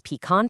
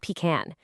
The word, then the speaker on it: pecan: He made sure to note that it is pecan pie, not pecan.